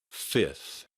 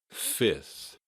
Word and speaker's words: fifth: Fifth. Fifth. Fifth is a complicated looking word, but just know that the f in the middle is usually not pronounced.